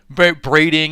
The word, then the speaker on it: Braiding: I know it makes it small, but braiding is the correct pronunciation.